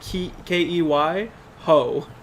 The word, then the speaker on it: Kehoe: saying key like Key ho.